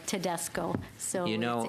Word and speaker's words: Tedesco: You pronounce it as you see it, as it is spelled, Tedesco.